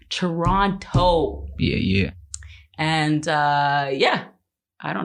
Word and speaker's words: Toronto: I keep trying to pronounce the O because apparently Toronto people don't do that. Toronto.